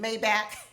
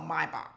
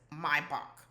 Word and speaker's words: Maybach: I think it's called Maybach. That's how the Germans pronounce it. Maybach, but who cares?